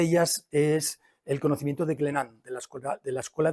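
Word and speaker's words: Glénan: en el archipiélago de glenan digo glenan porque está aquí Jean franois que si digo glenans me va a decir que la s no se pronuncia es glenan eh es plural porque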